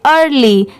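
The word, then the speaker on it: early: ईयर पढ़ते बट नहीं इ ए आर इसे अर पढ़ेंगे और एल वाई को क्या पढ़ते हैं ली पूरा मिला देंगे तो क्या हो जाएगा अर्ली ए जी ई इसे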